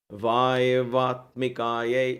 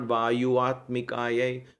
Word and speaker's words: Vayavatmikaya: Vayavatmikaya. It's not Vayuatmikaya. When you join Sanskrit two words, it changes the way it is said.